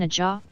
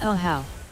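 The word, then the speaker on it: Ajaw: to lose said Oh you mean a jaw it's pronounced a how a how doore sen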